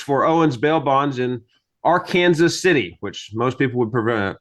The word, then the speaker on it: Arkansas City: Owens Bail Bonds in our Kansas City which most people would pronounce as Arkansas city but in Kansas we prefer to call it our Kansas City also we go by